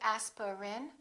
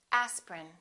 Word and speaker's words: aspirin: and repeat after me aspirin don't say aspirin say aspirin evening evening family family